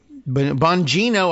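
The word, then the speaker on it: Bongino: the weekend uh Dan Bo Boingo Boingo Bonino I guess is how he's pronounced his last name uh who as I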